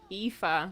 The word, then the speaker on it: Aoife: you'd been chilling, and I knew that you said it was Eve something, Aoife.